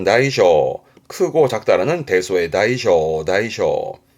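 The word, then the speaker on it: 大小: 발음은 다이쇼.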